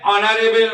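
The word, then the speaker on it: honorable: যখন কোনো যদি আমার কনসোনেন্ট থাকে, অনারেবলের হচ্ছে কি দিয়ে শুরু? এইচ দিয়ে, কিন্তু তার সাউন্ডটা যদি সাইলেন্ট থাকে তাহলে আমরা কি করব? হচ্ছে অ্যান ইউজ করব।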